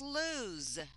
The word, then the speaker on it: lose: will mention is this this one is pronounced with a z sound this is lose all right and it